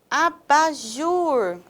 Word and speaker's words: abajur: A palavra abajur, abajur, terminado em R, nós temos o jur.